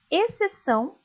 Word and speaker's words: exceção: O X também aparece em algumas palavras só para marcar posição, sem indicar som algum. Leiam comigo. Exceto, exceção, excelente. Perceberam que essas palavras, o C é pronunciado. O X acaba ficando sem ser pronunciado. Como tem o C ali, apenas aparece o som dele mesmo.